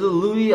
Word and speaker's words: Louis: As Louis Armstrong, Louis라고 발음해요.